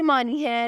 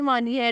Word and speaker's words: MINHA: Is Ayra, spelling है AYRA। Ayra नाम की मानी है रिस्पेक्टेबल यानी काबिले इज़्ज़त।